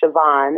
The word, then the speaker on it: Siobhan: a and her name and her name is Siobhan it's spelled s is in Sam ha A V